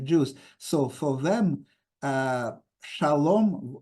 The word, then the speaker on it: Shalom: so for them uh Shalom was pronounced the same name as for the Sephardic Jews so Shalom not schim like for uh L LX and not schim like for polish and um Ukrainian ashkenazic Jews